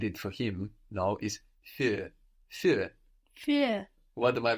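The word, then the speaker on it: für: with the uml but the idea with the uml is that it adds a quality of an e no so actually another way thinking about the sound is to think of a o o o and put your lips in the shape they are when you make an O and keeping your lips in that shape pronounce an e exactly that's it that's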